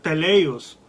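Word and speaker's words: τέλειος: decíamos la semana pasada que se pronuncia teleos y significa fíjese los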